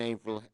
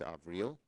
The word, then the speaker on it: Avril: to tony blinken and april of real haines she corrected my pronunciation it's avril president-elect biden continues to